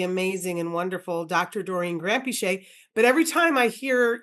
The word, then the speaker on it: Granpeesheh: So when I grew up in England, we just started with Granpeesheh, and that's how you pronounce it, Granpeesheh, and like no emphasis on any part of it.